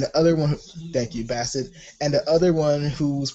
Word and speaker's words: Bassett: Angela Barrett. I said her last name wrong. And the other one, thank you, Bassett.